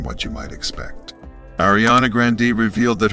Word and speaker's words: Grande: Ariana Grande revealed that her grandfather called their family's last name Grande in an interview with Apple Music in 2018, because it sounded more enjoyable.